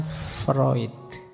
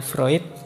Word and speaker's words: Freud: saja eh gagasan psyoanalisisnya Freud ini tulisannya frewood Biasanya kalau mahasiswa baru membacanya masih fre nak apa-apa masih murni berarti masih asli belum terpengaruh Barat oke Nah teman-teman mungkin